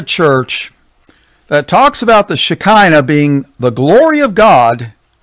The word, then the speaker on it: Shekinah: Well, there's a couple ways to spell it, but the most common that I have found is the Shekinah. Shekinah. Shekinah.